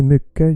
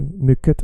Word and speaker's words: mycket: mycket, you say mycket, you don't say det, you say det. Doesn't matter what other people told you. It's okay, we understand you. Keep saying it wrong. We love you because you exist. Sure, but the proper way is like this. Mycket, det.